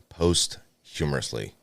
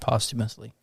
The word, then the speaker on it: posthumously: shart they were awarded the Medal of Honor post humorously post humorously first time since uh Vietnam Vietnam it's pronounced posthumously post humorously words are hard all right POS